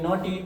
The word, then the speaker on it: naughty: NAUGHTY, इसको क्या बोलेंगे? नॉटी।